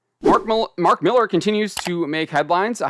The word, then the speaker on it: Millar: to catch myself there I always want to kind of call him Mark Millar because that's how it's spelled but it's Mark Miller uh he's making headlines